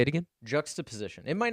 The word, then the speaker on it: juxtaposition: JUXTA Yeah, so you guys weren't pronouncing it right. POSITION. So it's Can we get some like literate people in here? juxtaposition.